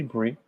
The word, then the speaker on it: Bree: has been forever curly brie forever curly just the way it's spelled bree is bri i checked for every